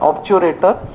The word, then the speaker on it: obturator: ऑब्चुरेटर nerve उसका नाम है, स्पेलिंग याद रखना है तो ऑब्टुरेटर, ऑब्टुरेटर, ऑब्चुरेटर नर्व.